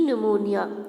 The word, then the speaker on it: pneumonia: One winter, many people in the colony fell prey to pneumonia. अच्छा, see here it is written P pneumonia, लेकिन but here the P is silent.